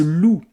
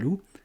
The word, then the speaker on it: loup: la fin du mojal loup et loup l o u p et on retrouve l'animal. Tout est là dans ce qu'on ne prononce pas dans ce X et dans ce P.